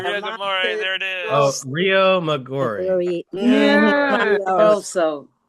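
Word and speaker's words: Riomaggiore: Rio Maggiore. Yeah. Also, Rio Maggiore.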